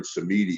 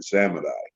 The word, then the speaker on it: Samedi: He's called Baron Samedi or Baron Samadai.